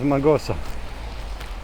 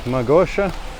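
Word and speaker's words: Mağusa: out from her that the proper pronunciation is magosa not magosha and not the greek from augusta but turkish magosa is the way how you want to ask here if you want to get any help well that's something else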